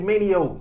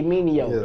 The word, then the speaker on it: Mineo: How you pronounce his last name? Andy Mineo. Andy Mineo.